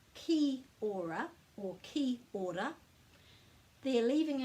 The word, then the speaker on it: Kia Ora: And when we're pronouncing any word in Māori, we put a break after every vowel, and we remember the vowels are a, e, I, o, u, and there are no silent letters.